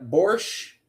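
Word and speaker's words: borscht: But actually the corre correct pronunciation, you don't say the T.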